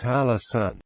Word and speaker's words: Hallasan: as Mount Oakland halaan is written in North Korea in show sule as if it were hanesan however it is still pronounced his halasan in the past halasan